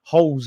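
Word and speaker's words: Holeš: But yeah, man, like holes in centre mid. Oh dear me. The pronouncing is Holes.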